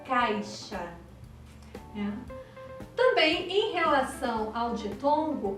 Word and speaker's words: caixa: é imperceptível às vezes uma palavra do tipo caixa quase não é pronunciado a letra ir você não disca ficha você diz caixa também em relação ao